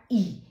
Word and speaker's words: I: आई, आई का उच्चारण ई।